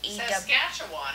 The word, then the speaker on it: Saskatchewan: How do you pronounce his name, Mom? S-A-C-K-A-T-C-H-E-W. Saskatchewan. It's not somebody's name. It's an area of Canada. Yeah, that's right. Saskatchewan.